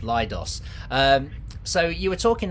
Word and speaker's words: Leidos: gonna pronounce this correctly lidos lidos like colloidus like kaleidoscope lidos um so you were